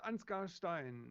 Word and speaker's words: Ansgar Stein: little bit uh I don't know how to pronounce it my name is anscar Stein and yes she's a funny background I